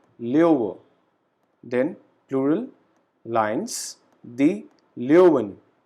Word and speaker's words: Löwe: This particular letter has a pronunciation of AO. So we call it der Löwe.